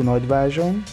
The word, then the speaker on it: Nagyvázsony: This bus will take 1 hour or 30 minutes, and you will need to pronounce Nagyvázsony like this. Nagyvázsony.